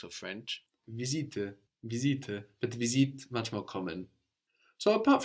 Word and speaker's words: visite: So we don't pronounce this E on visite. No, it's there to let us know to pronounce the T.